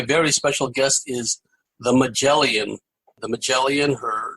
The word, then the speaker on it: Magelion: intuitive writer and empath her name is derived from combining the color magenta and her star sign Leo it is pronounced mellian here you will find